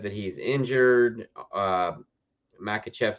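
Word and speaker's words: Makhachev: Makachev. Islam Makachev. I said Muslim. Islam Makachev. So let me kill the banner real quick. RDA said that he's injured. Makachev said, I don't believe that you're injured.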